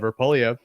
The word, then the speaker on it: Poilievre: Pierre Poilievre, Andrew Scheer pronounced it Poilievre, has been around a long time, close to 20 years.